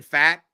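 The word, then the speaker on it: Pfaadt: strowman even uh those are kind maybe Brandon fat and I'm not a big Brandon fat guy but I'm I'm always I'm always how do you feel Brandon f f is that his that's how you pronounce pronounce f yeah I'm I'm always interested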